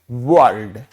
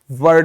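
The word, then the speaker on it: world: तो ये जो शब्द है इसका जो उच्चारण है वो होता है वर्ल्ड। क्या? वर्ल्ड, वर्ड नहीं होता।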